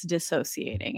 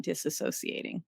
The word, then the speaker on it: dissociating: podcast that I was listening to the other day, and they had said that it's dissociating and not disassociating.